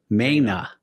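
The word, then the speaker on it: Maina: interesting characters like Pete Mania Mania. Did I say that right? I said it wrong every time. Mena. Yes. Correct.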